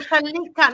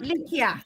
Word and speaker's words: Chalikia: Oh, Chalikia, not Likia. Chalikia. Chalikia. Chalikia, yes. Chalikia. Gotcha. Yes. The I is silent.